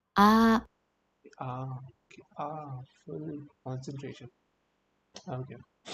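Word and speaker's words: あ: This is ah. Ah is pronounced like ah. Like when you come to the realization, it also sounds like ah in car.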